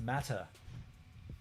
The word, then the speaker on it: Mate: And you're saying it wrong. It's pronounced matter.